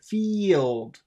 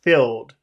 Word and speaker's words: field: push out more ear it sounds like you're pushing down the ear instead of pushing it out okay fi oh that was better because you know with number two filled filled that's that's kind of a sound that you eat filled that goes down more than it goes up filled field but when you say two you have to push it out field field field but there